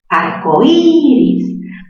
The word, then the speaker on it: arcoíris: ¿Pero cuál se pronuncia con más fuerza, la O o la I? Arcoíris. Ah, ya. La cerrada se pronuncia con mayor fuerza de voz.